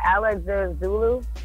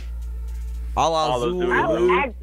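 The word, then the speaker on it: Alla Xul: One of the guys from, how do you say that? Alex Zulu? Allah Zulu. Yeah, my bad. One of the Yeah, guys is the Allah same way.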